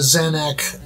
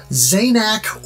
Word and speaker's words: Zanac: consensus here as to whether the pronunciation is zainac or xanax I've always said Xanax I don't know where